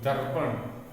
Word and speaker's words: दर्पण: र हलंत प रप, तो दर्पण, दर्पण, इसका किस क्रम से इसको पढ़ा जाता है? द के बाद में र को पहले पढ़ा जाता है। ये वाला जो र किसी भी वर्ण के ऊपर आता है उस वर्ण से पहले इसका उच्चारण होता है। तो हम कहेंगे द से के बाद र का उच्चारण करेंगे, उसके बाद हम प का, फिर न का।